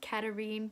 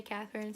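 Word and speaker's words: Katharine: Katerine, it looks like Catherine, but I watched a pronunciation guide by Kendar Blake and it's Katerine, but she doesn't care if you say Catherine, so I'm gonna say Katerine. So Katerine has the poisoner talent, which is she can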